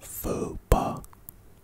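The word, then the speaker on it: faux pas: entrepreneurs in the world the next word is fopa kinda sounds like vapor and I like Anyway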